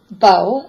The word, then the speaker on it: bo: nine rings oh yes bo is pronounced the bow as I am a marsh I started five years in the martial art and that was our staff weapon bo next is hey